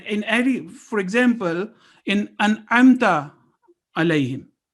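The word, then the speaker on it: أنعمت: And in every, for example, in An'amta alayhim, An'amta alayhim would be wrong, An'amta alayhim. So Ayn has its place. And similarly, if Fatha, Kasra, and Dhamma are wrongly pronounced, for example, in An'amta means you bestowed, and An'amtu means I bestowed. So you can well imagine what impact will it have if we wrongly say An'amtu.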